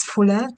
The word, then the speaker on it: Fula: you are at so my name is Fuller to pronounce it very well it's called and it means somebody born after twins today I'll be presenting